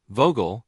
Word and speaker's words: Vogel: So vogel meaning bird starts with an f sound.